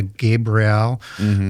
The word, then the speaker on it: Gabriel: And I say that just deliberately where I have a EL. Yeah. Why do you say it like that? Well, because in angelic names, they end with a Hebrew word, which is EL, which is defined as an angel or a god.